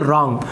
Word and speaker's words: wrong: तो यहाँ पर W का उच्चारण नहीं करेंगे, रॉन्ग नहीं पढ़ेंगे, इसे आप रॉन्ग पढ़ेंगे, RONG रॉन्ग। तो यहाँ पर W जो है वो साइलेंट हो जाएगा।